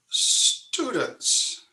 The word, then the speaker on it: student: I've been known to say that the word student rhymes with rodent. And I was corrected by a student. She said, No, it rhymes with prudent, not rodent.